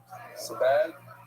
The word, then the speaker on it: Sebag: Anonymous in honor of the wedding of Yoni Sebag. That's how you pronounce it. Sebag, Yoni Sebag, and Eliza Brand.